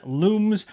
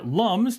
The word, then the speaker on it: lums: You can actually go ahead and trade in looms or lums, depending on how you're going to pronounce it, and it states here